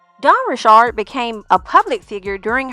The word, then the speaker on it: Richard: everyone's been telling me your last name is pronounced differently Don Rashard that is my name I'm not trying to